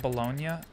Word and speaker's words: bologna: but this is like bologna. We call it bologna, but it's spelled bologna.